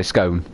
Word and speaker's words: scone: how do you say scone i say it is in stone lights don't do hit yeah so it yeah say it is in stone so i say scone this is a a